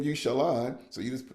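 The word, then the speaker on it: Shalen: your mama name you Shalon so you just you just tell them how to say it sh s h a then l o n even though it's spelled s h a l e n so yeah so names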